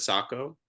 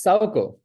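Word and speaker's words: Saoko: the Sako which is am I saying it correctly is it Sako it's Sao Sao Sao Soo yeah it's you know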